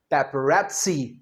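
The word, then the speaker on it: paparazzi: सो, यहां भी यह जो डबल जेड है, यहां हम क्या बोलेंगे? पेपरसी। पेपरसी।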